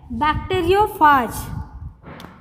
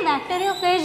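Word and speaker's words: bacteriophage: उन्हें कहा जाता है बैक्टीरियोफाज। बैक्टीरियोफाज इसे प्रोनाउंस क्या करेंगे, बैक्टीरियोफेज नहीं करेंगे, इसे बैक्टीरियोफाज प्रोनाउंस करेंगे, ठीक है।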